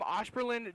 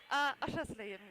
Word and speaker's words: Oschersleben: Yeah, so you're from Osperlin, Germany.